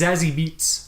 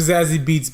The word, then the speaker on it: Zazie Beetz: Her name is Zazie Beetz. Zazie Beetz? Zazie Beetz.